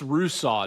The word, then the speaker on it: Russo: Russo, Yanze Pierre are the two guys I'm looking to potentially help with that. So it's Russo, not Russo for, right?